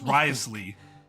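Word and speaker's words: Wriothesley: this information right under risley's watchful eyes collecting information has always been our strong point what is the point of the th being there if it's just pronounced rly to find out more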